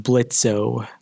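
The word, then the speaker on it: Blitzø: text bubble she sang blitzo because she pronounces the o in his name which i had to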